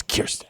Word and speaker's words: Kirsten: Kristen Gillibrand. She was like, It's Kirsten.